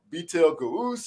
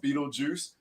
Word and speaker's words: Beetlejuice: at it, I was like, man, this is, Beetle Goose or Beetle Ghost. I don't even know what it says, So just for everybody knowing it, when you read it, it is pronounced Beetlejuice.